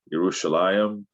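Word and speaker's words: ירושלים: salam uh yerushalayim or now pronounced in many ways in hebrew yerushalayim and this was changed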